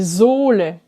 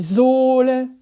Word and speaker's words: Sohle: Tu as remarqué, avant les doubles consonnes, 2N, 2L, le O est plus court. Sonne, sollen, wollen. Alors qu'avant un H, le O est plus long. Der Sohn, die Sohle, wohnen.